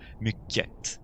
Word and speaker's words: mycket: Donc tu pourrais dire et tu pourrais entendre mycket. Parfois on va entendre le T. Je te conseille simplement de le prononcer comme ça, comme la prononciation native ici.